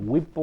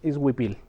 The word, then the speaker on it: huipil: Okay, I know a lot of people, they find it hard to pronounce and they call it whipple or huipo, different names. Is huipil.